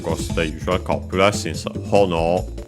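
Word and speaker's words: ほのお: the usual copula since hono uh um by the way should be accented on the first syllable if I recall correctly.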